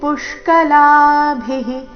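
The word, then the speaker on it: ಪುಷ್ಕಲಾಭಿಃ: ಭಿ ಮಹಾಪ್ರಾಣ ಬಂದಿದೆ ಸ್ತುತಿಭಿಫ್ ಪುಷ್ಕಲಾಭಿಹಿ ಪುಷ್ಕಲಾಭಿಹಿ ಪು ಮೇಲೆ ಆಘಾತ ಪುಷ್ಕ ಲಾಭಿಹಿ ಲದೀರ್ಘ ಭಿ ಮಹಾಪ್ರಾಣ ರಸ್ವ ವಿಸರ್ಗದ ಉಚ್ಚಾರಣೆ ಹಿ ಎಂದು ಬರಬೇಕು ಪುಷ್ಕಲಾಭಿಹಿ ನೋಡೋಣ ಪೂರ್ತಿ ಶ್ಲೋಕ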